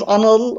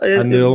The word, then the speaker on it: Anil: First, my name is Anil. Anil. You being Slavic speakers, I was sure that you could pronounce it correctly, so that's why I'm being pedantic about that.